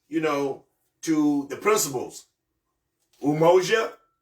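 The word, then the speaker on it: umoja: go back to you know to the principles umoa umoa and the spell u m o j a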